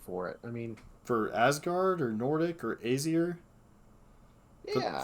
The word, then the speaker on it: Asgard: Yeah, It it's was like like an a Nordic Asgard deck.